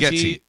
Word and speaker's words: Bargatze: Yeah, It's 'cause Bargatze. Yeah. Yeah, it's no big deal. I was one of the things I was like, all these years, everybody's been saying it wrong. It's just like Bargatze.